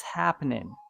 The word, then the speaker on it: happening: happening okay what's happening the last g is silent in American accent so we say what's happening this means how are